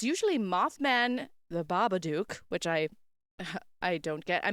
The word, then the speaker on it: Babadook: It's usually Mothman, the Babadook, which I don't get. I mean, it rhymes with shook, Babadook.